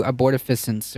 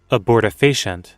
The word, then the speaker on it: abortifacient: done with these two abortifacients, or I don't know if I'm pronouncing it right. Here, Google, help me out here. Abortifacient. Abortifacient. There you go.